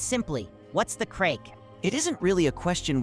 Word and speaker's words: craic: Craic, pronounced exactly like crack, is one of the most beloved words in Irish life.